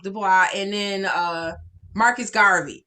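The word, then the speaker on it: Du Bois: tubman um w.e.d dubois that's i think that's nice last name is pronounced dubois and then uh marcus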